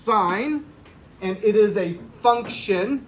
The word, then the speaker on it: sine: why is it on your calculator so it's pronounced sine and it is a function everybody say function